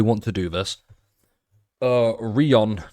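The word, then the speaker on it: Rien: It's a French word meaning nothing.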